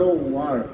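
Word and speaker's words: work: এটা হল ওয়ার্ক। এটা কি? ওয়ার্ক।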